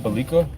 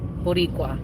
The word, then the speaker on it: Boricua: Boliqua? Where? Boliqua? Boliqua? Boricua. Yeah. Boliqua. What does that mean? That's Vico Chital. So that's actually that goes a little back to our history. So Boricua, it's a reference, like you're Puerto Rican, and